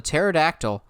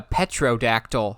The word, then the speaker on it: pterodactyl: jobs somebody called a pterodactyl a petrodactyl and i'm going um no petrov petrodactyl i'm going you do realize the whole gimmick of the pterodactyl is the p is silent that's where half the